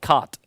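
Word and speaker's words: Kat: a guy called called cut sorry k a t that's the way you pronounce his name and that is going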